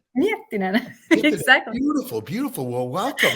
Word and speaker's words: Miettinen: Sonja, is that pronounced correctly? That's totally correctly. All right. Sonja. And Miettinen? Miettinen. Miettinen. Miettinen.